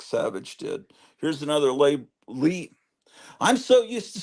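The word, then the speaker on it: Leigh: Gone With the Wind her name was spelled like that and it's pronounced Lee I have I don't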